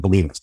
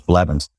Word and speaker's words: Blevins: And I kept pronouncing, and I called it Believance. I'd like to talk about Mr. Believance. Real name was Blevins.